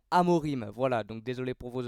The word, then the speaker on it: Amorim: coach de Manchester United j'arrêtais pas de dire Ruben Amorin mais c'est bien sûr Ruben Amorim voilà donc désolé pour